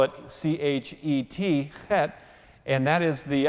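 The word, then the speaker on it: חטא: The Hebrew word for sin is the word chet. You can spell it C-H-E-T, chet, and that is the idea of missing the mark.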